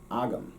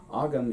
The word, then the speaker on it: agam: moment yesterday i was checking the pronunciations for agam agam rather ogam is that means at